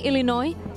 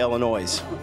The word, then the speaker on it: Illinois: So is there different ways to say Illinois? You know, down here they say Illinois. Illinois. Yeah, but the S is silent, but I don't think people around here know that.